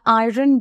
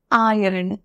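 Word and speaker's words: iron: তোমরা কি জানো যে এটার উচ্চারণটা কিন্তু ভুল আমরা আয়রন বলবো না এটার সঠিক প্রোনাউন্সিয়েশন হচ্ছে আয়রন আইন আয়রন প্রোনাউন্সিয়েশনটা আমি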